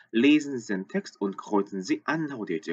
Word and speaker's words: kreuzen: 여기서도 kreuzen Sie an, kreuzen, R, kreuzen 요 발음들. kreuz 그냥 단순하게 kreuzen 하는 거하고 kreuzen 하는 건 좀 다르죠. 요 발음 좀 주의하셨으면 좋겠고.